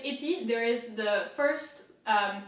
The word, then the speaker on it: épi: So it's E, right? and then I is pronounced I, so épi.